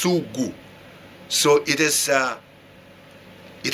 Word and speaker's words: sugu: in estonia this called this this word is pronounced sugu so it is uh it has changed in